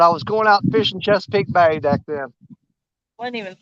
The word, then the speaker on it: Chesapeake: Chesapeake? Yeah, Chesapeake Bay.